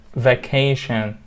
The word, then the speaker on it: vacation: bad behavior on their vacation vacation three syllables with the stress on the second one so that's that's it